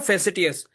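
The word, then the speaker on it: facetious: संजीदगी के बगैर बात करना, इसको बोलते हैं फेसिटियस।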